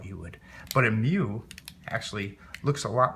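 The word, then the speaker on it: μ: It's mu. It's pronounced mu.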